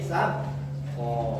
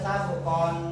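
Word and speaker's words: سبقا: Ya, seperti itu madiwad yang tidak boleh dibaca sabukon, tidak boleh. Itu langsung diwakafkan dan tanwin matanya dihilangkan. Jadi yang semula sabkon menjadi saboko.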